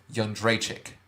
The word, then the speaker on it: Jędrzejczyk: Can you pronounce the last name? Joanna Champion. Joanna Violence. Joanna Jędrzejczyk.